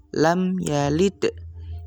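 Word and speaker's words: لم يلد: Artinya kita membaca dengan jelas di bibir sehingga bacanya adalah lam yalid. Kita baca persis huruf-huruf yang ada di sini. Mim-nya juga jelas, ya-nya juga jelas, dan panjang harakatnya cukup dengan satu harakat.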